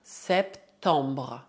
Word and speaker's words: septembre: Septembre, septembre. Lembre-se, E colocado antes de duas consoantes é pronunciado E. Então, dizemos septembre, septembre. O mês de setembro também não está associado a nenhuma tradição particular.